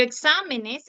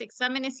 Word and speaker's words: exámenes: y termina en N pero exámenes exámenes si lleva tilde Por qué lleva tilde porque es es rúcula porque al momento que se pluraliza esta palabra aumenta una sílaba bien régimen régimen es